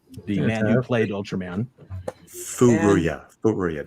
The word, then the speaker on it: Furuya: Furuya. That's how you say it. Furuya, yeah. The very first time I ever met him, I totally said it wrong.